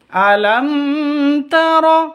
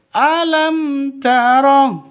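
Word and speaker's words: ألم: mati bertemu dengan ta cara bacanya jelas terang tidak boleh dengung alam itu salah yang betul alam mim matinya jelas tanya juga jelas Kenapa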